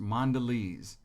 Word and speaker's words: Mondelez: brand the craft came up with this is pronounced mondelez international and so internationally crafts craft foods will